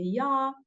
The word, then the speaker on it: ja: I'm gonna just repeat them so you know how to pronunciate. So if you want to say yes, you say ja.